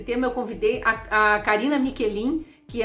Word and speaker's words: Michelin: Karina Michelin, mas se escreve Michelin, porque esse H em italiano tem som de QU em português, né?